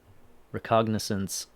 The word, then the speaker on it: recognizance: Recognizance rhymes with, or sounds like recognition, so maybe he doesn't have to pay a money bond.